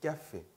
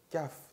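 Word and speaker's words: café: 그 옆에도 까페 까페 의 위에 악성이 없었다면은 까프 되겠죠. 까프. 그런데 악성이 있으니까 까페 에 발음 해주는 거예요.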